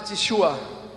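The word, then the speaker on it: תשובה: Ela tem outras pronúncias, mas a que mais se enquadra com a minha maneira de pronunciar é Teshua. Alguém pode chamar de Teshua ou Teshua.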